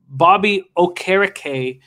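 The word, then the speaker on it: Bobby Okereke: concussion protocol in three or four days uh bobby o'carricay we've been told that that's how to pronounce his name now had 12 tackles uh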